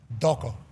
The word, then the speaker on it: Toko: It's t o k o. But in in the Tongan language the t's are pronounced as a d. Doko.